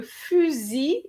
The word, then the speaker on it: fusil: Okay, so le fusil de chasse. Okay, so here you have we have an S between two vowels, so we're going to have a Z sound.